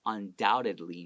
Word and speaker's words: undoubtedly: What does undoubtedly mean? 叫不用怀疑的，毋庸置疑的。 Don't forget, this B is silent. Don't read the B.